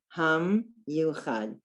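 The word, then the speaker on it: המיוחד: Ham, that's the end of the syllable. Ham, you, chad. Again, we have a letter, there's a consonant and a vowel. So we have ham, that's a syllable. Then the yud goes with the u vowel, you. And then Chad. Ha, and we finish with Dad. Ham Yuchad. El Ham Yuchad.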